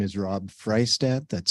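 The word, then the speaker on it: Freistadt: this opportunity to comment my name is Rob freistat that's spelled f-r-e-i-s-t-a-d-t I reside in Helena and I'm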